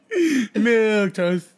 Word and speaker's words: milquetoast: Look how it's spelled, too. Oh, whoa. M-I-L-Q-U-E-T-O-A-S-T. M-I-L-Q-U-E-T-O-A-S-T. Milk toast. Milk toast.